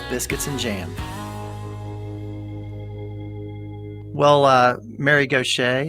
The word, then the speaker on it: Gauthier: Well, Mary Gauthier, it's great to have you on. Welcome to Biscuits and Jam. Great to be with you, Sid. Thank you. First of all, tell me where the name Gauthier comes from, and am I saying it correctly?